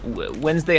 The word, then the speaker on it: Wednesday: Wednesday has a whole fucking syllable that just doesn't exist.